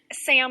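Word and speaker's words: Samhain: is sin s okay yeah yeah yeah spelled Sam hay is how it looks like it's spelled but it's pronounced sa and that is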